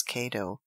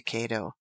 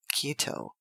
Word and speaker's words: Cato: Caesar sends health to Cato but pronounced Cato cuto Quinn much annoyed replied